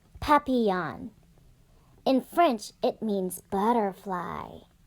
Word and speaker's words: papillon: like our neighbor's dog you say it like this papillon in french it means